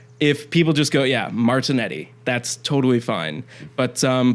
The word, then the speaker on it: Martignetti: yep and over there if somebody were to say my full name this is how I'm like 100 sure it would be pronounced Martin Yeti something like that Martin Yeti martinet yeah like the G basically turns it into this weird Y sound okay um but over